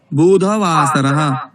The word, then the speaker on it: बुधवासरः: सोमवासरः मंगलवासरः बुधवासरः न बुधवासरः बुध ध अ वर्णस्य उच्चारणम् बुधवासरः।